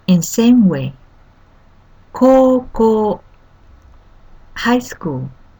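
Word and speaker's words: こうこう: Koko, high school. Koko. The first and third character, ko with U, pronounced with twice long like koko.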